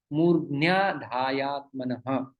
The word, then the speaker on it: मूर्ध्न्याधायात्मनः: तो मूर्धनी और आधाय, तो ये मूर्ध्न्या बन जाता है। तो इसका उच्चारण आपको ठीक से करना होगा, मूर्ध्न्याधायात्मनः।